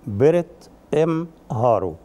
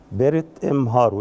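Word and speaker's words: prt m hrw: الخروج إلى النهار بالمصر القديم بيرت إم هارو، بيرت إم هارو يعني كده كان بتنطق بالهيروغليفي كده.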